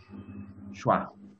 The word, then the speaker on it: schwa: And the name for this symbol is schwa. Schwa. Schwa. That's the pronunciation.